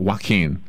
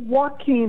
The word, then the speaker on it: Joaquin: Okay, I thought there was a baseball player and you pronounce it Joaquin. Not Joaquin, but Joaquin. Well, Joaquin has an H in it.